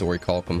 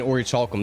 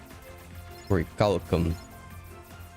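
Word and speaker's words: Orichalcum: I call it Ory Chalk. I'm southern. I go out of my way to mispronounce things. I guess it is Oricalum. Huh. I don't think there's a CH in there. I've been saying Ory Chalkum this long. Oricalum. Sounds Latin.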